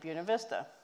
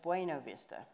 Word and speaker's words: Buena Vista: buena vista so and he said it correctly buena vista um or bv and uh the rest of the world of course says bueno vista so here's how that